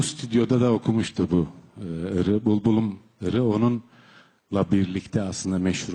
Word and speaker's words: Булбулум: Hay hay, bu bülbülüm, bulbulum diye telaffuz edilir Kırgız Türkçesinde.